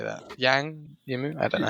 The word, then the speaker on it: Zhang Yimou: Yang Yimou? I don't know how you say it. It's just Zhang Yimou.